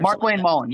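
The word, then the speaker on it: Markwayne Mullin: said yeah Mark Wayne yeah I'm pronouncing his name wrong Mark Wayne Mullen or MC Mullen Mark Wayne Mullen yeah who said that he personally showed him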